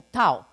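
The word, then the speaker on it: Dao: como tal lo denominan como Tao ta O aunque en chino moderno la pronunciación es d a o yin yang igual hace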